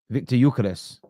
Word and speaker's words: Gyökeres: Say the pronunciation again of Victor Gyökeres, because I thought that was brilliant. Victor Gyökeres.